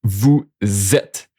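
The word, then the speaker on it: vous êtes: So you see this is pronounced vu zet. The s become like a z sound. And why does it become a z sound? It's because it become like this in between two vowel vet.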